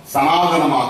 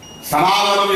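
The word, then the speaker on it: सनातन: இந்தியாவில் பாசிசம் சனாதனம் என்ற இன்னொரு பெயரில் அழைக்கப்படுகிறது. சனாதன் என்ற சமஸ்கிருத சொல்தான் தமிழிலே சனாதனம் என்று தமிழ் உச்சரிப்புக்கு ஏற்ப நாம் மாற்றியிருக்கிறோம். அது சனாதன் என்பதுதான் சரியான சொல், அல்லது சனாதனா என்பதுதான் சரியான சொல் சமஸ்கிருதத்திலே, சான்ஸ்கிரிட்.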